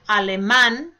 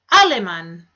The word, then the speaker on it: Alemán: Some of them also have written accents which need to be pronounced, as in Alemán. And that would be in comparison to Aleman. You hear the spoken accent on the last A, not on the first A.